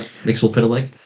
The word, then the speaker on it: Mxyzptlk: How do you pronounce it? I said Mxyzptlk. Yep, Mxyzptlk.